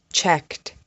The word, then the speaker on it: checked: Asked, checked, walked, worked. The sound at the end of these words is kt.